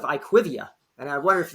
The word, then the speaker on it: IQVIA: what is it yeah I think you pronounce it IQ of you but I hear a lot of iquivia and I wonder if